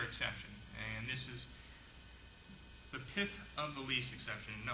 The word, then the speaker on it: pith: well there's another exception and this is the pith of the least exception no I didn't stutter that's the way it's pronounced p-i-t-h pif of the lease which means